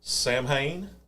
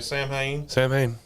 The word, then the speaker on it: Samhain: okay so during and i'm gonna pronounce this and i may be pronouncing it wrong samhain i think it's what kyle j m h you got it right okay sam haynes which is a festival that